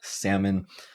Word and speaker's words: salmon: salmon we see that the SA and Silent L would be the stress syllable salmon and that would mean that even though we have an o in our writing for the second syllable it will be reduced so it's stamin and this is also a case where we have a silent letter so even though we have the L in spelling we do not pronounce it when we speak this word so let's see